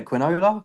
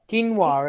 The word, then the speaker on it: quinoa: You got how do you say quinola? Quinola. Quinoa.